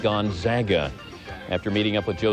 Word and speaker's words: Gonzaga: reminder to us sportscenter anchors the school is pronounced gonzaga after meeting up with joe smith and the